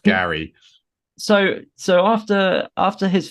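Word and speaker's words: Geri: Frey Frey yeah Frey and Gary Gary it's pronounced Gary so so after after his family are all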